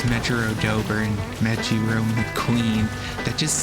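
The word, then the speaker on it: Mejiro Dober: It is pronounced like a J, so it's Megarodober. Okay, so it's Megarodober and Megiro McQueen.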